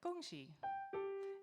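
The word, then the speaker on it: 恭喜: So with 恭喜, it sounds like that, right? Like 恭喜, almost like an octave.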